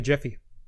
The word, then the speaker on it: GIF: wouldn't be a video it'd just be a gif because it only took a jiffy so they they proved the pronunciation of jif in in one fell swoop which i thought was